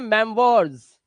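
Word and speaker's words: memoirs: देखो, ओ आई के बाद आर आया, इसका उच्चारण हो गया मेमवर्स, क्या हो गया, मेमवर्स,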